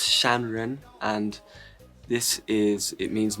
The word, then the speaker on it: Shanren: can be considered unan music the name is pronounced shanren and this is it means Mountain Man or